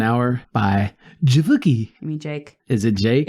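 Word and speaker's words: JVKE: know what it is J JV k e it's the V is meant to be like an upside down a he was trying to creative but it's pronounced Jake I always thought it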